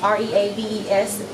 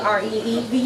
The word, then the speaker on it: Reaves: On Instagram, you can look me up all across Reeves, REAVES. Because I know down south we spell it REAVES. Okay. But this is an up north name, so it's REAVES.